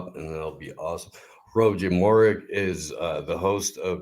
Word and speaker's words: Hrvoje: Hrvoje. I told you. I was Three syllables. Kind of like Hrvoje. Literally means Croat.